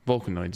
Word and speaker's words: Vulcanoids: Vulcanoids is. Because it rhymes with hemorrhoids.